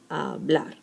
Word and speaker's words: hablar: So let's see, for instance, hablar, same thing. Ends in R, R's in a consonant, then the last one is the strong syllable, hablar.